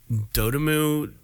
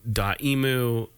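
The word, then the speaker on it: Dotemu: Enix uh there's uh dotamu dot emu detemu things that people don't know how to pronounce I can't stand it but it's d-o-t-e-m-u is the company that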